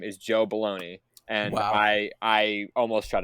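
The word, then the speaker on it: Bologna: and his name is Joe baloney and I I almost shut it off immediately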